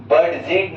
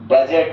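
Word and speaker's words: budget: D silent कब होता है? बोलना है यदि यदि जी से पहले, यदि जी से पहले डी रहता है, तब डी साइलेंट हो जाता है। जैसे ई डी जी ई को हम एज नहीं पड़ेंगे। एज पड़ेंगे। जैसे बी यू डी जी ई ई टी को बर्ड जेड नहीं बजट कहेंगे।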